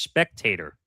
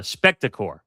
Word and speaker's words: Spectacor: Um, lost in last week's news of Comcast plan split from NBC Universal, was the status of Comcast Spectator, or is that how you say it? Uh, Spectacore, that's how you say the corporation sports and entertainment entity.